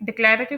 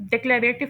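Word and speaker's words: declarative: जो कि डिक्लेरेटिव sentences में कॉमन है। कुछ लोग ना इस वर्ड को डिक्लेरेटिव प्रोनाउंस करते हैं। लेकिन ये है डिक्लेरेटिव।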